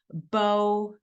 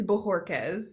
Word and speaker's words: Bojorquez: take this opportunity to introduce you to Bojorquez. Did I get it right? No. I didn't. Almost every podcast I do, I still don't get it right. Can you pronounce it for us? Absolutely. It's Bojorquez.